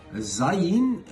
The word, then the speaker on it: Zayin: Zayin is pronounced as a Z, such as in Zebulon, one of the tribes